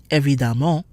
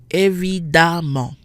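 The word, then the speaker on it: évidemment: nasal so for example the e/m in the word for obviously every demo is not nasal we have a double M followed by a vowel if we look at its syllables we see that the E and the M are not in the same syllable so the nasal sound is not triggered every Damo the E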